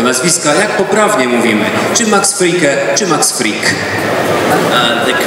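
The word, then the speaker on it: Max Fricke: Niektórzy mówią, że tam jest aż jeszcze E i mówią czasami Frickę, ale tego E tam nie ma.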